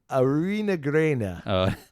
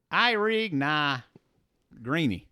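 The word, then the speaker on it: Eirigh Na Greine: It's the Erich Na Greine. You're mispronouncing it. It's the Erich Na Greine. There it is.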